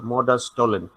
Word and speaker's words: modus tollens: Okay, last S is not pronounced, so modus tollens.